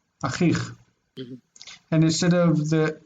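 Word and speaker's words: אָחִיךְ: Before these vowel endings, vocalic endings, we're not going to see ech, we're going to see just ch. Achich, not achiech. Achich.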